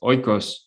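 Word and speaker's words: οἶκος: like economy or ecology, eco comes from, I think it's phonetically pronounced as oikos, or it's spelled as oikos in Greek, and it literally means home.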